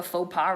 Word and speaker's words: faux pas: sorry because you know that's like a a faux pas that's how you pronounce it that's like a faux pas right now you know like shaking hands i